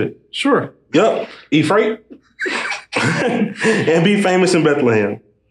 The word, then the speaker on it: Ephrathah: Yep, Ephrathah.